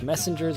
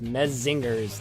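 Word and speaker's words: Menzingers: for a question here cuz it pronounced the messengers like messengers with him but that said or is it pronounced med zingers like men singers with his n okay I can't figure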